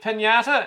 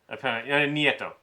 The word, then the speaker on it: Nieto: Saying that President, is it Pinata? It's not pronounced Pinata. I like to think of him as being a Pinata. That's probably where I went wrong. He's an idiot. Nieto.